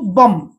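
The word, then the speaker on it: bomb: अर्थ पाठा छोटो भेड़ा सिंती कम बी को साइलेंट कम चिरुणी चिरुणी तापर देखंतु बम एटी बी पढिबे नाही बम ओके जोडा कि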